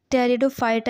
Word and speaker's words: Pteridophyta: अपना टॉपिक्स करते हैं टेरिडोफाइटा यहां पर आपका पी जो वर्ड है यह साइलेंट होता है इसको हम टेड क्या नाम है पी टेरिडोफाइटा लिखते हैं और टेरिडोफाइटा सेे पढ़ते हैं सो आइए अपना करते